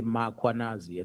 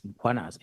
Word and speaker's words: Mkwanazi: them to pronounce Mkwanazi, they will put an A after M. They will say Mkwanazi, and there's no A, it's Mkwanazi, MKH.